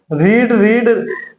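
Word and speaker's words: read: यहाँ हैड वी, अब रीड spelling ये सेम ही होता है। इंग्लिश से रीड रेड कहा जाता है, ठीक है।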